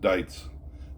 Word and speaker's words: Deuits: He spells his name D E Ui Ts. D E Ui Ts. Dites. He pronounced it dice. Eugene Dites.